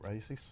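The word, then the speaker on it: Raíces: tobacco comes from Honduras and it's made at rases too yes which is in Honduras yeah I say it right races races yeah okay uh I'm not really getting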